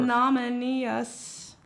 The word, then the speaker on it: ignominious: Ignominious. Say Anonymous. that. Anonymous. Ignominious? Ignominious. Ignominious. Are you sure? Yep. ignominious. IGNA. But that's how Torf would have said No, it. there's no A.